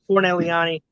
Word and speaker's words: Corneliani: This is Corneliani.